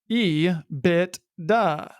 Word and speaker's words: EBITDA: It is pronounced by most as EBITDA, but regardless of how you say it, EBITDA is independent of capital structure.